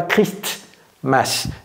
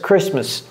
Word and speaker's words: Christmas: vidéo this year Christmas ne dites pas Christmas ne prononcez pas le té et ce n'est pas triste c'est Chris Chris Christmas will be on Sunday